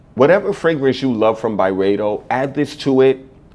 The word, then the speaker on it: Byredo: And that's right, I said Byredo because that's how it's pronounced. I didn't realize that. I've been saying Byredo for so long.